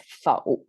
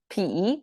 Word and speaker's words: 否: about this Turning Point okay normally this word pronounced as faux which means negation like if you want to